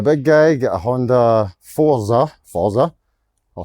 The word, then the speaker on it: Forza: If you're coming to Thailand and you need a motorbike, if you're a big guy, get a Honda Forza, I'll say it right, Forza.